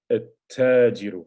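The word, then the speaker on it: التاجر: So notice you pronounce the lam, whereas this is at-tajiru. So you go straight to the ta from the alif.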